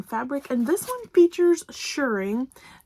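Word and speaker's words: shirring: and this one features shuring thank you Michelle for helping me pronounce it I will always think of shearing now for the Sheep not for sewing so for the shuring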